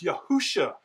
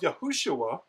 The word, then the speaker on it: Yahushua: Therefore, there's no reason to say that the name is Yahusha. This is a mistake. People are simply taking the defective form, the shortened form of Yahushua, and they are transliterating it.